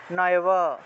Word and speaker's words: নৈব: চয়ব নয়ব, চয়ব নয়ব। যদি নৈব থাকে নয়ব, নৈব থাকলে নয়ব, চৈব থাকলে চয়ব, এইভাবে ভেঙে ভেঙে উচ্চারণ করা যায়।